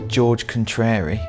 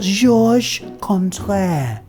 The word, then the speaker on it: Georges Contraire: Well, first of all, his name's George Contrary. It's pronounced Georges Contraire, okay?